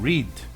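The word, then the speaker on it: read: burro porque o verbo rede nós alteramos a pronúncia no modo falado então ri no passado se pronuncia red neste caso e fique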